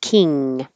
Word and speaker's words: kin: king just hold it King kin this means family and the vowel is e like it your tongue should be lower than number six which is Keen very high e Ken Keen soul food